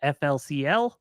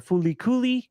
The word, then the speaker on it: FLCL: never heard it pronounced you probably know it as flcl or fly coie or Foody depending on how you're familiar with it um so like if